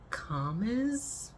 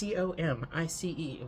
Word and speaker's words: Comice: It's Comice, which I would like to pronounce Calmies.